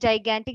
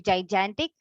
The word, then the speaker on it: gigantic: other good usages shruti there was a pronunciation mr you said gigantic it should be gigantic other good usages of